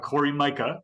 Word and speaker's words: Cori Myka: wonderful we are uh very excited to have Corey Micah whose name I pronounced correctly we established it right before and